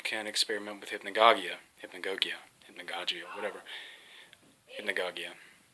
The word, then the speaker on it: hypnagogia: Hypnagogia. That's how you say it, or how I say it anyway. I've heard people say it many different ways.